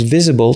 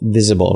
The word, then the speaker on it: Vizible: you can be showing us the app called visible right my pronouncing right that's correct visible and we're gonna talk about how to create